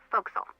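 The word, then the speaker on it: forecastle: ship but it's pronounced foxel why is that try pronouncing it like an english sailor with no formal education faux castle foxel over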